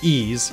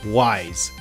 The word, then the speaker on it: Ys: Yes, it's pronounced ease, even though it looks like wise.